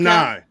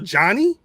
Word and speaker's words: Janai: How you say her name? Janai. No, because I saw. I guess she was on. I don't know if it was some AAEW show, but they kept calling her Johnny.